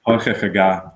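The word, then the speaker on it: Toiteach a Ghà: So pronunciation again for this before I say it again is Toiteach aga. Toiteach aga. But it doesn't. I mean, you could say Toiteach ada, but Toiteach aga.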